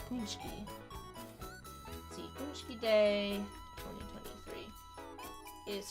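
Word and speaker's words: pączki: And it's pronounced like Punchki.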